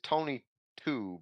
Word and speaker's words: Tony To: His name is it's Tony 2, but it's spelled Tony To.